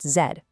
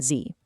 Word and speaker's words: zed: Over in the UK, the 26th letter of the alphabet is formally pronounced zed, not zee.